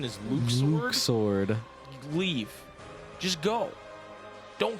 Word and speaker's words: Luxord: And who exactly is Luxord? Or as some would say, If you say Luxord, I swear to fucking Luxord.